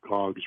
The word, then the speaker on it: Gog: The first two, Gomer and Magog, I believe are actually the famous Gog and Magog. Gomer actually is named shortened to Gog, so it rhymes with Magog.